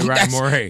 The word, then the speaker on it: Morray: I only spelled it differently so people know how to say it. Right, Morray.